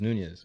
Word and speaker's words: Nunes: people get mad CU you keep on saying noes when it's NES you don't even know how to say it how do you pronounce